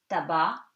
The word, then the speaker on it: tabac: And C is silent at the end of the word in these words. For example, you have these examples: tabac, tobacco, porc, the pig, estomac, stomach, franc, sincere, blanc, white. So try to remember these words, they are exceptions.